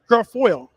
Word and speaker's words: Guilfoyle: jr's girlfriend kimberly how you pronounce your name guilfoyle i sound terrible but i never actually have pronounced her name how you passed her name gorfor girlfriend girlfriend girlfoil oh okay girl foil that's live internet for